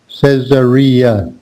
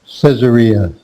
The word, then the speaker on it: Caesarea: Caesarea. Now that's a little tricky to pronounce also. Caesarea. So it's more like says, Caesarea.